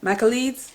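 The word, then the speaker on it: Michaelides: debut novel um by Alex Michel Michel that's how you say his name so um now I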